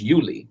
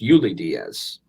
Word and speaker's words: Ulysses: you Lydia's yes yes it is not Olli it is you Leigh it is pronounced you Lydia's because it is you because it because it is Ulysses so you li not